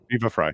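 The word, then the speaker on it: Viva Frei: Like I'm talking about, how do you pronounce his name? Viva La Free or Viva Free Viva or Fry. Viva Fry.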